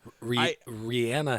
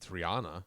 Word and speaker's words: Rihanna: Is it Rihanna? No, it's Rihanna. Oh, it's Rihanna. Yeah, but Jay-Z said Rihanna on his featured thing on Umbrella, and she's always been Rihanna.